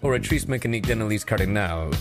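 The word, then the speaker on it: Oratrice Mécanique d'Analyse Cardinale: what is an or meis Cardinal what it's pronounced orri mean Denis cardal and what is that it passes judgment on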